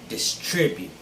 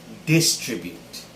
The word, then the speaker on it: distribute: it is distribute distribute the stress should be on the second syllable as well just like contribute this word is pronounced distribute second syllable stress as opposed to distribute that's how i used